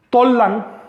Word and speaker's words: Tollan: Tollan, que es como se pronunciaba antiguamente Tula, Tollan solo quiere decir capital y era el nombre genérico de un montón de ciudades, incluyendo la actual Tula.